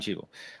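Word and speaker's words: Cheadle: Um, got Don, uh, Cheeel. Did I say it right? Not a flowery picture of him. 61. Don Cheetel. Yeah, Don Cheetel.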